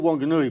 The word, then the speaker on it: Whanganui: it's a wh but it's the h is not pronounced so it's still wanganui but it's spilt wh i don't know why um so how long were you in whanganui well my dad was